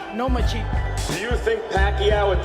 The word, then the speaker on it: Lomachenko: You are now the mandatory challenger for Vasily Lomachenko's 135-pound title. Do you believe at 20 years old you're ready for that type of challenge? I think you said his name wrong. It's Lomachenko.